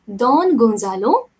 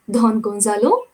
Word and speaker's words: Don Gonzalo: Pronunciation should be Don Gonzalo, and this lady, she is Donna Laura. Don Gonzalo and Donna Laura.